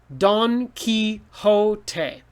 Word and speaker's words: Don Quixote: so trust your ears don quixote and again it's from another language q-u-i sounds like key x-o sounds like ho t-e sounds like tay don quixote so your